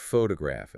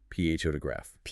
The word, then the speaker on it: photograph: And the source uses the word photograph as an example. 3 syllables. Photograph. Photograph. Yeah, the heavy stress is on the first syllable. You physically push more air out of your lungs on that first sound.